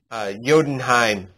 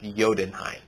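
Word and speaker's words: Jotunheim: chaos so we got odin's throne the bifrost jodenheim it's spelled jodenheim but it's pronounced yodenheim and the sanctum sanctorum i have been falling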